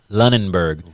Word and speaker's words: Lunenburg: Lunenburg, Lunenburg. Let me spell that for y'all.